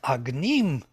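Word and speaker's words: अग्निम्: is authentic because if i take word agneem and the accent is on the second syllable agnih then it is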